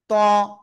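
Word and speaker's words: ط: এই যে এ অক্ষরটা তো অক্ষরের নাম কি ত অনেকে বলে তুয়া তুয়া না জাস্ট জিহ্বার আগা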